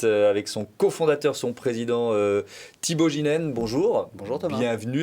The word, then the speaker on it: Thibault Geenen: son cofondateur, son président Thibaut Ginène. Bonjour. Bonjour Thomas. Bienvenue. Est-ce que j'ai bien prononcé votre nom? Absolument.